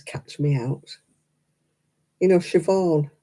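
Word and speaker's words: Siobhan: the Irish names catch me out you know shobon it's written Sayan is it you know you're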